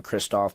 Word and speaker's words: Jason Kristoff: I I urge all your listeners to look up a gentleman named Jason Kristoff, but it's spelled like Christ off.